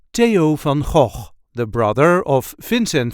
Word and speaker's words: Theo van Gogh: time we will see how to pronounce in a regular Dutch accent Teo F the brother of Vincent